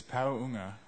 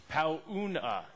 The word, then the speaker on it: Paunga: The correct way to say it is Paunga. Paunga. Yeah. Is that close? Close. It's like an NG sound in there.